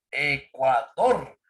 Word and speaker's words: Ecuador: No decimos Ecuador, ni tampoco decimos Ecuador. ¿Cómo decimos? Ecuador. La fuerza de voz está en la última sílaba.